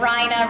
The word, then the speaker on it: Rhina: My name is Lisa Niverina, and I always tell people I'm a school teacher during the day that Niver rhymes with diver and Rhina rhymes with China, which of course, for